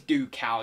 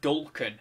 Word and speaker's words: Ducal: I think it is Ducal you pronounce it, but I always say Dulcan. I don't know why. There's no, like, Dulcan would be like D-U-L, wouldn't it?